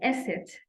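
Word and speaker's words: Eszett: that it's called an Esset, and it represents double S.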